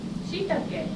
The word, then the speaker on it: shiitake: How many syllables are there in beautiful? 3. 3. Beautiful, right? Shiitake, that's Japanese word.